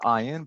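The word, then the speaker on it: אין: This word ayin, it's pronounced ayin, but it's spelled with the Hebrew letter aleph.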